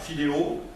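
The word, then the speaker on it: φιλο: écrire en grec mais ça se prononce à peu près comme ça filo ça veut dire aimer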